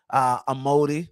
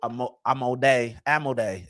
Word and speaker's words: Amodei: As Pete Hegseth was threatening Amodi or whatever, who was the CEO. That's what I had listed on my flashcard. Dario Amodei is how you pronounce it, I think.